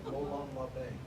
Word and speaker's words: Molon labe: The pronunciation is MOLON LABE. It isn't really an accent on the B. It's just a kind of raising of the tone. It's not LABE, it's LABE, like that, okay?